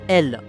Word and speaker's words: El: la culture kryptonienne et qui en fait se prononce elle.